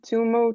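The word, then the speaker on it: tummo: Um let's see it like uh can you read this of Edguru Dev like Kaku tumo taught in talypo six yogas.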